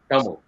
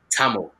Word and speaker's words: Tamil: another point is the pronunciation of the world now proper dumbo identified people would pronounce it as damo but fully whitewashed mammals would say tamil t-a-m-i-l not t-h-a-m-i-z-h i often hear my